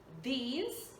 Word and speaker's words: these: Singular, we use these. For plural, thee. This, these. This, these. Qual é a diferença aí na pronúncia, né? This, these. Esse I, o I mais alongado com o Z no final.